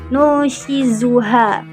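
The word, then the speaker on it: نُنشِزُهَا: Di sini Asy-Syaukani menjelaskan Al-Hakim ini meriwayatkan dan mensahihkan dari Sabit bin Zaid bahwa Rasulullah membacanya dengan nun dan zai, nushizuha. Maka makna qiraat dengan huruf zai adalah mengangkat dan meninggikan anas, yakni menghidupkan kembali tulang-tulang yang telah mati.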